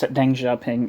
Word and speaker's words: Deng Xiaoping: I think that's Deng Xiaoping. It's spelled Tenghsiaoping here.